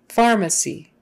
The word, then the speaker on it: pharmacy: to pharmacist pharmacist pharmacist pharmacy pharmacy pharmacy a second a is a pharmacy or a pharmacy pharmacy but not pharmacy or pharmacy can't do it and it has to be on the far the the stress has